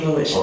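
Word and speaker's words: avolition: How do you in your expert opinion pronounce that word? I say aolition.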